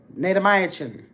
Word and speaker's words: Natamycin: Natamycin. That's how they pronounce that.